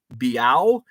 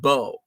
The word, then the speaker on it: Beau: as it gets uh do people ever say biao instead of bo um usually it's bu because uh b-e-a-u is the first four letters of beautiful so people will say bu uh when i say